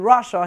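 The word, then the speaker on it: Russia: William from BBC stories of news bulletin in রাশিয়া history important historian হ্যাঁ এটা হয়তো উচ্চারণের কারণে আপনাদের বুঝতে একটু কষ্ট হয়েছে আমি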